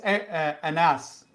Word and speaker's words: Anaus: Phil Anaus. Dr. Phil? Dr. Anaus? Hello. Welcome, sir. Hi. Welcome. And it's pronounced Anas.